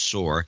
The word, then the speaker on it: Soar: Ellen Soar, pronounced Soar, in Muskegon, Michigan, $82.